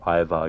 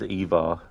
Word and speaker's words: Ivar: Coffeeton, in the TV show, it's pronounced as Ivar, you believe? Yeah, I've heard it um in this game pronounced as Eva as well.